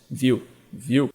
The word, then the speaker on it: Vue: Por exemplo, se você pegar desenvolvimento web front-end, principalmente, você pode escolher React, Angular, Vue, como é que é a pronúncia? Vue.